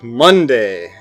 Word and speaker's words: Monday: week, Monday, Tuesday, and pronounce the second syllable so it rhymes with say. A small portion of the population, however, primarily in the South or Midwest, will say the syllable so that it rhymes with C.